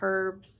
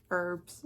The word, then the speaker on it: herbs: the scroll the uh herbs herbs sorry I pronounced the H and the amethyst chips